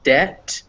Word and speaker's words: debt: okay so yeah so b is sometimes also not pronounced in front of t's or d's um there's no real rule for this because obviously it is sometimes pronounced before a t as in obtain or option but yeah in subtle and debt which is spelled uh that it's not uh so the reason for